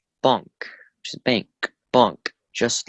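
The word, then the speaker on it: بانک: The word sounds very similar to the English. Bunk, bank. Just the A is pronounced a little bit more.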